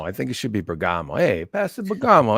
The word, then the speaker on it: Bergamo: I say Bergamo because I'm Italian, but it's Bergamo. Yeah, right? I've been hearing Bergamo, but yeah, I have too. I like Bergamo. I think it should be Bergamo.